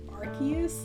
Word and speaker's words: Arceus: love him so much did you know it's pronounced arceus isn't that so lame it's like gift word